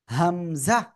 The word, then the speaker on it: হামজা: করেন এই যে অক্ষরটা এই অক্ষরের নাম কি হামজা কোন টান নাই কিন্তু এই অক্ষরে হামজাহ